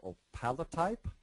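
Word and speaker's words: opalotype: Nicole how I don't even know how to pronounce some of these things this is op palot type yes am I even close yes that's exactly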